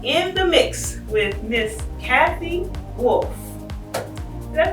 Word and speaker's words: Cathy Wolfe: Hi, my name is Christa Hunt, and we are here in the show, In the Mix, with Miss Cathy Wolfe. Did I pronounce that right?